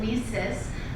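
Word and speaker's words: WISE: w i Ys and we pronounce it Weis like we sisters because that's exactly what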